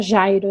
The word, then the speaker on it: Jairo: A pronúncia em português seria Jairo, né? Mas em espanhol, Jairo.